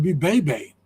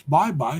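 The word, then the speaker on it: Baybay: If I pronounce it the way we would pronounce it, it would be Bebe. But I've been told it's bye bye, so I pronounce it correctly.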